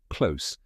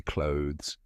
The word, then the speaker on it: clothes: the pronunciation of the word clothes they often pronounce it as close which means something entirely different the correct pronunciation rhymes with loes can you say clothes excellent now when it comes to learning a